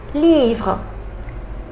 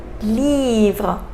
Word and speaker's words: livre: So final E, we didn't pronounce it, right?